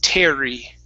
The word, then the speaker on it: Terry: Okay, even though there's a double R, we still pronounce only one R. It's Terry.